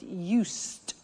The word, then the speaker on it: used: I said used, with a T sound.